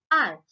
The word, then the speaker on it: hour: When we pronounce these words, H is silent. For example, Mr. Mehta is an honest man. Miss Geeta is late by an hour.